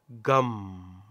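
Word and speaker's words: gaṃ: with the single syllable gum gum gum now if you try this try reciting this word or this song it's not a word it's a sound om gum and you close your mouth om gum you close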